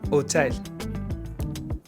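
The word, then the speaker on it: hôtel: In French, H typically does nothing. No sound ever. You don't pronounce it. Hotel.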